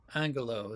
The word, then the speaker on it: Angulo: how do you say your last name Angulo Angulo so L angalo from University of North Texas